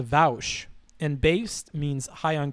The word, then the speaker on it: Vaush: was the joke uh it's pronounced vowsh and based means high